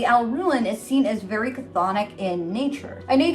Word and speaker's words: chthonic: Anyway, the Alraun is seen as very chthonic in nature. I know you can say it with like the C silent, depending on your practice, like you would just say chthonic.